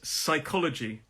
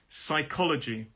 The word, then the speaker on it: psychology: A lot of people asked for this word, and it's psychology. Psychology. psychology, 4 syllables.